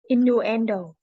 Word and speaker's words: innuendo: enders i n n u n d o innuendo innuendo in no end in no endo in